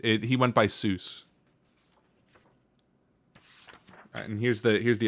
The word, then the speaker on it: Seuss: a german name the the eu is pronounced like oi traditionally but things get anglicized it he went by seuss and here's the here's